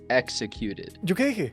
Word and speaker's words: executed: flawlessly really well but there could be some work on word executed so executed you skipped or you emitted like one syllable I don't know which